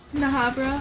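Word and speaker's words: Bnahabra: Bahabra with a silent B? Bahabra? Wait, are both B's silent? Okay. Nahabra?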